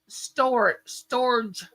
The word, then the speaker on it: storge: So the first one is storge, and it's spelled STORGE.